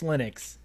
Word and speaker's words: Linux: it should be pronounced I know that lonus himself said its Linux mhm but it just